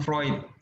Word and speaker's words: Freud: Ini bacanya Sigmund Freud.